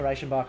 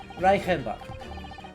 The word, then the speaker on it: Reichenbach: Reichenbach. I was doing well in your pronunciation. CH before the front vowel should be a sh sound, shouldn't it?